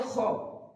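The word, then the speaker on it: خ: তারপরে আসছে খ, খ বলার সময় আমরা খেয়াল রাখবো, খটা যখন আমি উচ্চারণ করব উপরের তালুর সাথে জিভের লাস্ট অংশ লাগিয়ে উচ্চারিত খরখরে একটা শব্দ হবে খ, খ।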